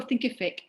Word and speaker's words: Thinkific: you spell it um like it's terrific but think at the beginning um content help yes